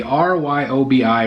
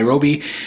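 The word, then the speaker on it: Ryobi: is absolutely fantastic this is a Ryo bi Roby I think is how you say it that's air strike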